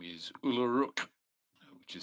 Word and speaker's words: Ulluruk: That person's name is Uluruk, which is spelt Ulluruk, Ulluruk being a half orc.